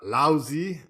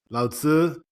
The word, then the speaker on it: Laozi: Okay, next one we've got Laozi. You can correct my pronunciation. Lao Tzu versus Herodotus.